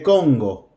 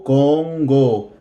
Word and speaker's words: Congo: name sharra it's the Congo the combo make sure that o Congo Congo good we're going to replace the name with she age' a is the Congo a is the Congo